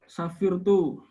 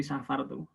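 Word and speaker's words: سَفَرْتُ: Ini saat temening ingsun safirtu utawa safartu nih, bukan safirtu. Kalau safirtu itu menjadi isim fa'il, tapi di sini ini fi'il madi. Kalau isim fa'il tidak boleh ada domirnya. Jadi bacanya mesti safartu.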